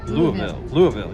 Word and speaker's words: Louisville: Louisville. Yes. Man, you knew how to pronounce it correctly.